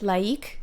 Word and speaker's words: laïque: And I guess you can say it like, but then it's too similar to the English word to like. So I will pronounce it laïque just to make it clear.